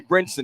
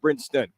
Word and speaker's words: Brinson: to do it Rock Brinson not Brinston there's no T yeah you you keep